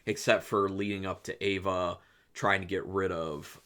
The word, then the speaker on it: Eva: because then he's with eva or ava i think they could say ava um but it's spelled eva but yeah so then